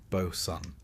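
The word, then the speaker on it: boatswain: Back on deck, you'll meet the Bosson or Bosen, pronounced Boson because sailors like to keep you guessing.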